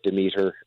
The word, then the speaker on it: Demeter: because here's the thing: this is based on the name comes from Greek mythology, and so there's all kinds of variations of the English pronunciation, the Greek pronunciation, the Americanized English pronunciation. There's all different versions. So we just wanted to give a consistency so everybody, and it sounds good on the ear. It's Demeter.